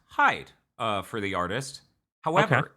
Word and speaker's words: HYDE: First off, Hyde Hyde D is pronounced Hyde uh for the artist.